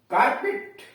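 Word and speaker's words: carpet: कार्पेट, कॉर्पेट, अब यहां यूएस लिखा है यानी कार्पेट यूएस में कहते हैं और कॉर्पेट इंग्लैंड में, तो कालीन को कार्पेट कहते हैं।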